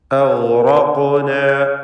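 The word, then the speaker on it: أغرقنا: ഇവിടെ അഗ്റഖ്ന, ഗൈന് റാ ഖാഫ് ഇവയ്ക്കൊക്കെ തഫ്ഖീമാണ്. ഗൈനും ഖാഫും ഇസ്തിഅലാഇൻ്റെ അക്ഷരങ്ങളിൽ പെട്ടതുമാണ്. അഗ്റഖ്ന തടിപ്പിച്ച് ഇവയെ ഉച്ചരിക്കണം.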